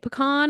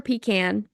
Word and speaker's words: pecan: almonds walnuts or uh how do you say it pecan or pecan I say pecan I interchange them my husband says pean I'm gonna say pecan so or pecans uh